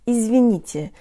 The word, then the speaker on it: извините: Hey guys, today you'll learn to pronounce the word izvinite, meaning excuse me or I'm sorry. The tongue is high and forward for all syllables in this word.